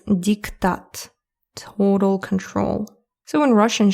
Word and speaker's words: диктат: Again, my pronunciation dictate. In Russian, it's diktat.